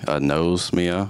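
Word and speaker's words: anosmia: from a condition called a NOS Mia and if you don't know just means I don't have a sense of smell and I am saying it correctly a nose Mia which to me has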